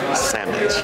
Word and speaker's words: sammich: It's pronounced sandwich.